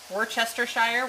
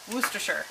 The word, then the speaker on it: Worcestershire: Worcestershire Worcestershire Worcestershire sauce I used to say it was Worchester shire which is wrong it's whose Worcestershire I've been practicing all day and I'm still getting it wrong I'm sure Worcestershire sauce right there we're